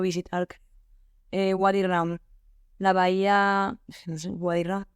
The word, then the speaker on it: Wadi Rum: Wadi Rum, como se escribe, sin más.